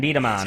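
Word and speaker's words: B-Daman: So now you'll get to see Bomberman Beat-A-Man in the video.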